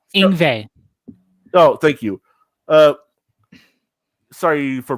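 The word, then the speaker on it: Yngwie: solo in it from Yenwing Malstein. I think that's how you say his name. Oh, Ingve.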